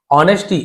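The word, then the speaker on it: honesty: ऑनेस्टी वॉज his identity, ऑनेस्टी S silent है, ऑनेस्टी यानी होता है, हम बोलते ईमानदारी, तो सत्य उनका धर्म था और ईमानदारी उनकी पहचान थी।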